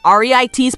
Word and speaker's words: REIT: real estate investment trusts or reit's pronounced REITs are companies that own